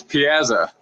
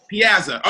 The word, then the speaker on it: Piazza: Am I saying it right? So can you say it for me real quick? It's Piazza. Piazza.